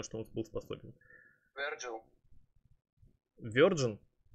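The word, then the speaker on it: Vergil: Верджин? Ну, имя произносится как Верджил.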